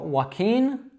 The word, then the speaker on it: Joaquin: the end of Joaquin, the name, would be just a regular N, so it's not as nasal. It's actually got a tap at the top of the mouth, whereas the tongue is neutral when you say the verb. So Joaquin, walking.